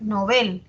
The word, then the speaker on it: novel: lleva tilde A ver novel es aguda Aunque yo la pronuncie grave pero debo atender a lo que dice el dpd el dpd me dice que se recomienda su uso agudo porque proviene del francés que es novel eh No no era